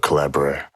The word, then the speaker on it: Collabradabra: And that goes back to the book Collabradabra. Can't say Collabradabra. Yeah, that's it rhymes with abracadabra.